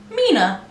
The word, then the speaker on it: 3INA: My name is and today we're testing the brand Mina. It's spelled with a 3. It's spelled 3-I-N-A, but it is spelled Mina.